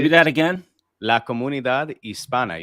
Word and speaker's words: Hispana: La Comunidad Hispana. You don't pronounce the H. And don't make it Hispania. There's no tilde on the N.